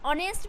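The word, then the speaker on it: honest: जैसे यहां पे देखिए ऑनेस्ट एच से O plus N एसटी ऑनेस्ट ऑनेस्ट means होता है ईमानदार तो क्या है एच के बाद ओ है ना यहां पे तो ओ जो है गाइस क्या है एच जो है वह साइलेंट हो गया डायरेक्ट हम ओ का उच्चारण कर रहे हैं यहां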